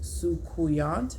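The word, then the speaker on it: Soucouyant: and the second one is scarcity this is pronounced sukuyant sukuyan sukayant sukayant okay sukuyant look at the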